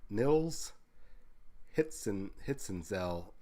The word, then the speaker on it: Nils: the artwork everything and niles or not nils hits and hits and